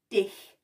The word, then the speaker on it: dich: put this in and you have to make sure you say the last word how it is pronounced because it will sound like something else which you do not